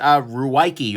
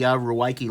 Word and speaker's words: Ruike: This is Ruike or Rake. They swear to me that this is pronounced Rake.